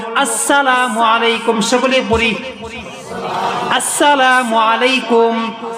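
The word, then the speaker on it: السلام عليكم: আলাইকুম আছে না নাই হ্যাঁ হামজার উচ্চারণ নাই সিন লাম কিচ্ছু উচ্চারণ সঠিক ভাবে নাই এইজন্য নবী বলেন আমার একটা সুন্নতকে বান্দা তুমি জিন্দা করো জিন্দা করো এমন একটা সুন্নত যেই সুন্নত সমাজ থেকে উইঠা গেছে এই যে একটা সুন্নত আসসালামু আলাইকুম না না এখন থেকে আমি আপনি একটা সুন্নতকে পালন করা শুরু করি আসসালামু আলাইকুম ওয়া রাহমাতুল্লাহ শুরুতে হামজাকে উচ্চারণ করে বলবো আসসালামু আলাইকুম সকলে পড়ি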